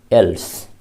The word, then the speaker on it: else: बड़ी इल्स प्रचलित है, आदत बस बोलते हैं हम लोग, यानी बड़ी इल्स, लेकिन है वो एल्स।